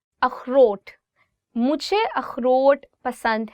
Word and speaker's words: अखरोट: अखरोट, walnut. अखरोट. So this word khe, it also comes from your, I would say like throat. So you'll really have to do is like अखरोट.